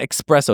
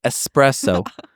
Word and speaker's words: espresso: a coffee drink espresso there's no X in that there's no cks it's not espresso it's espresso I want act strangle you